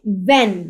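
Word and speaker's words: when: Often W एच इ एन व्हेन व्हेन जब ठीक है सॉरी व्हेन कब तो डब्ल्यू और एच इ एन यहां पे एच की साउंड जो है वो प्रोनाउंस नहीं होगी और ये साइलेंट लेटर कहलाते हैं।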